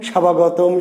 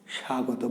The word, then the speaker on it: স্বাগত: প্রধানমন্ত্রীর আগমন, শিক্ষামন্ত্রীর আগমন, স্বাভাগতম, স্বাভাগতম, তাই কি? স্বাগত। বয়ের উচ্চারণ আমরা করছি না, তাই না?